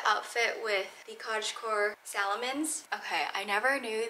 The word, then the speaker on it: Salomon: with the cottage core salomons okay I never knew that Salomon was pronounced a Salomon at least that's what I think that's what I Googled I would always say Salamon I'm so sorry y'all